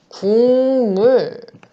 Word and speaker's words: 국물: 우리 국물은 발음을 어떻게 할까요? 고단비가 남이 만났을 때 오남이로 변하는 게 비음화예요. 보니까 기역과 미음이 서로 만나네요. 만나는 게 보여요. 고단비가 남이 만나서 오남이로 바뀌어야 되죠. 그치? 그래서 발음을 국물이라고 합니다. 그쵸?